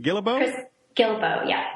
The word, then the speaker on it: Guillebeau: Chris Guillebeau. Yeah. Guillebeau.